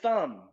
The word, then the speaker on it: thumb: thumb no it's just thumb okay so b is silent when we have these consonant pairs two consonants next to